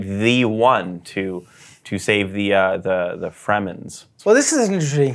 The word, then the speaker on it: Fremen: The one to save the Fremens. Well, this is an interesting thing. When I was reading the book, I was pronouncing it Freeman the whole time.